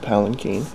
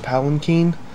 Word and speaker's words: palanquin: But I'm actually currently in the process of making the Palanquin. And for future reference, it's pronounced Palanquin, not Palanquin. A lot of people will mispronounce this, but it's actually Palanquin.